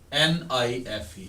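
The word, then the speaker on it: knife: There are many words, मसलन नाइफ common सा word है, NIFE, आपको पता होना चाहिए ये म्यूट है। ऊपर निशान लगा लेते हैं बिगनर्स कि ये के जो है ये साइलेंट।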